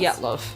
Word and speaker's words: Dyatlov: So What- that was how do you pronounce the pass? Dyatlov.